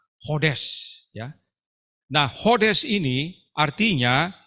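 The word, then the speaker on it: חודש: Perhatikan katanya, yaitu dalam penulisannya kita baca Kodes. Tapi dalam bahasa Ibrani membacanya tidak pakai K, tapi langsung H, Hodes.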